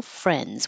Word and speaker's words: friends: bags inadequately mutual friends just skip the D and make it an NZ mutual friends we have mutual friends